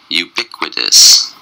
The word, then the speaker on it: ubiquitous: the day is ubiquitous ubiquitous ubiquitous ubiquitous was four syllables and a stress is on the second syllable you be you just